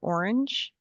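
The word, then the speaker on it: Ornge: I work for Orange. Um pronounced like the color orange.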